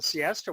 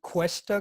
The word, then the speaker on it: Cuesta: Oh, the interesting thing about the Siesta one, it was a military train. It was just loaded Cool. with all these armored vehicles. cool. The one you're calling Siesta, you mean Cuesta grade?